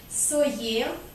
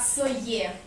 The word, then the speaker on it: сое: Итак, здесь будет не «с», не «ес», а «моне», «тоне», «сое». Будет произноситься как «сое».